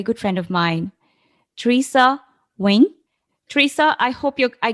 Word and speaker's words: Nguyen: Beyond this but yes my last name is pronounced wing it is a very common Vietnamese last name I sometimes tell people